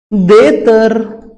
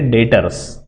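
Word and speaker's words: debtors: Next देतर, क्या लिखा है, देतर, अरे नहीं, इसका प्रोनाउंसिएशन है डेटर्स, ठीक है, डेटर्स।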